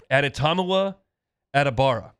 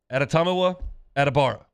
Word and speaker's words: Adetomiwa Adebawore: Adetomiwa Adebawore. Adetomiwa Adebawore. That's right. I've spelled it out phonetically. I heard him say it and then wrote it down on my notes. Adetomiwa Adebawore from Northwestern, the defensive end.